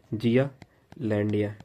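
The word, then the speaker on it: Zealandia: की बात किया था, उसको हम लोग अगर प्रोनाउंसिएशन करें या फिर उसको लिखे तो ऐसे लिख सकते हैं, जिया लैंडिया, ठीक है।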